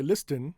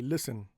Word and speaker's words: listen: Now in some words the t is silent after an s like uh listen. Okay. We don't say listen. we say listen or castle.